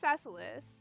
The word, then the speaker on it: Cecilis: Oh wow, I actually got it right this time. Pronounced Cecilis, the capital city of New Albion.